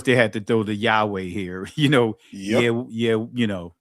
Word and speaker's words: Yahweh: Now, of course, they had to throw the Yahweh here, you know, you know, that's they had to throw it here, Yahweh, right? But actually, in ancient Hebrew, you guys know how it is pronounced is Yahawah, right?